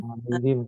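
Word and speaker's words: عليهم: Alaihim. Kenapa him? Karena sebelumnya ya mati.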